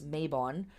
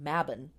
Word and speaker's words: Mabon: So, Mabon or Mabon, we in America here often pronounce this Mabon, but the word is correctly pronounced Mabon, is one of the Sabbats that is a modern invention-ish.